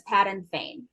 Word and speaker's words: Padan Fain: Chapter 3 is titled The Peddler, and Will, please correct my pronunciation of this if I'm wrong. The peddler's name is Patton Fane.